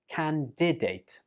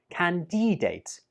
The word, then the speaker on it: candidate: Candidate. Some students use a long E sound on the second syllable and pronounce it like candidate. But that's incorrect. It's better to say candidate.